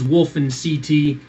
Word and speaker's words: WolfenCT: But it's Wolf, or Wolfen's fine, or Wolfen, Connecticut. That's where I'm from.